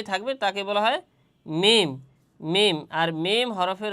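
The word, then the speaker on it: ميم: মিম। আর মিম হরফের উচ্চারণের স্থান হচ্ছে দুই ঠোট।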